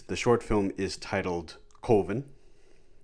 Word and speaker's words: Coven: film is titled colvin it's a bit of a running joke even in the movie how people lapse on the like the 99 percentile pronunciation of coven but coven and the if you listen to the commentary uh for the film the one of the documentarians uh i believe chris uh comments that they did some research into this and coven is a valid pronunciation it's just a lesser-known pronunciation hey you learn something